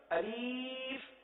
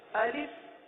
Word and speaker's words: الف: بعض اس طرح بھی پڑھ دیتے ہیں: الف، الف، الیف.